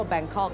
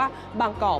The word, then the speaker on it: บางกอก: เอง นะ คะ หรือ เมือง ที่ ชาว ต่าง ชาติ เรียก ว่า แบงคอก นะ คะ นั่น เกิด จาก การ ออก เสียง เพี้ยน นะ คะ จาก คำ ว่า บางกอก ไป เป็น แบงคอก นั่น เอง นะ คะ คำ ถาม